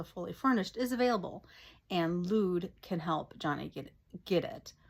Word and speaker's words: Lude: pills with his friend Lude. I think it's pronounced Lude, L-U-D-E. I was pronouncing it Lud, kind of like, but I suppose it would be Lude, like dude, only with an L.